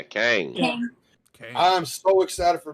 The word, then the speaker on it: Kang: everything yeah but with kane am i saying it right yeah kang okay i'm so excited